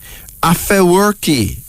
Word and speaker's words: Afewerki: Afewerki. That's Afewerki. A-F-E-W-E-R-K-I, pronounced Afewerki.